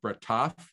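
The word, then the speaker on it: Toth: name pronunciation i've heard i heard a player called brett toath bretoff so maybe we'll go with that just come back from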